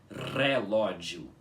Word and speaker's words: relógio: das palavras em balborano, a letra R fica com som de R, mais forte, tá? Um R enrolado. Vocês entenderam? Então, é por isso que essa palavra em balborano se pronuncia como relógio e não como relógio, com o R parecido com o nosso, tá? É relógio, tá? O R tem que ser enrolado, tá?